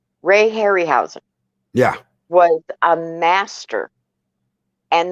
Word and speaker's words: Harryhausen: were in space oh i know if uh harry house okay i always get his name wrong ray harryhausen yeah was a master and those are still